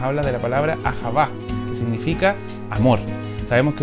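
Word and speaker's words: אהבה: Se pronuncia ahavá.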